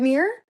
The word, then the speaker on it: myrrh: Is it mirror? Yeah. Oh, okay. Then I'm saying it right.